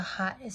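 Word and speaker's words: ḥꜣtj: The Hati, which is the Hat, is spelled H-A-T-Y, but the A is signified as a 3 backwards, and it's Hati.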